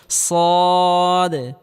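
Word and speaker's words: ص: সদ সদ হরফটি মোটা আকার করে উচ্চারণ করতে হবে সদ সদ সদ হরফটি মোটা করে উচ্চারণ করতে হবে।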